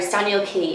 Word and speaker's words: Staniel Cay: k adventures or sorry staniel key it's spelled like hey that was like cay and we'll probably link